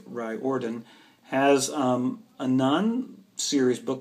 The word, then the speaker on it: Riordan: uh speaking of series rick riordan which is spelled reardon but the he pronounced it right ordon has um a non-serious